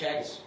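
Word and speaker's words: Teagasc: Like Ireland, their their um their their agriculture organization is spelled T E A G A S C, but it's pronounced Chagis.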